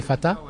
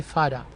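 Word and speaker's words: Fatha: Et parce que mon nom s'écrit F-A-T-H-A. Oui. Et j'avais un ami jamaïcain, quand il lisait mon nom, qui s'écrit F-A-T-H-A, il croyait que c'était l'argot de father, Ok. qui veut dire papa, Oui. en anglais. Et donc, au lieu de lire Fata, il lisait Fada.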